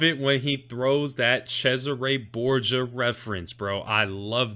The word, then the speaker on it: Cesare: he's referencing he pronounces he's pronouncing it wrong but it's cesare it's not caesar borgia it's cesare but